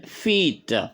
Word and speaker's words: feet: ok one foot and feit les pieds ok c'est c'est une voyelle longue on sait on dit fe one foot fe ok Fe dit de